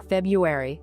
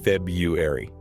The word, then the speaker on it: February: So the vast majority of native speakers simply drop the first R entirely and say February. February. That is so much easier to say than trying to force the R out.